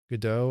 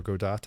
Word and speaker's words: Godot: made in the in the godot or godot engine depending on how you pronounce it and blender main content